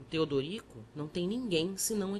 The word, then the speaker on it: Teodorico: o padre triste perguntou meu nome que eu pronunciava ter Drico o outro amorável mostrando os dentes frescos aconselho me que separar sílabas e dissesse Teodorico e depois acharam e